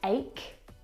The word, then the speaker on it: ache: Words like stomach and ache. The CH in all of these words is pronounced like a K sound.